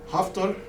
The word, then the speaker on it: Haftar: Haftar, or his name rhymes with Hitler, is a military person